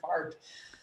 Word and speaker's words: Fahrt: Because the word fart, um, in German it's F-A-H-R-T, but fart.